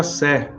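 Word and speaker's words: Say: lei de Sé eh tá escrito S Y né mas se pronuncia C Jean Batista Sé então a lei de Sé ela foi assim levada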